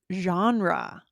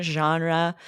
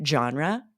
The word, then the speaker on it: genre: is the French pronunciation genre it means a type or class but it's often pronounced with the harder G genre genre it's sort of just